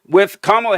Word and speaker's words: Kamala: With Kamala Harris saying that the Republicans like to do this childish thing where they pretend that they don't know something.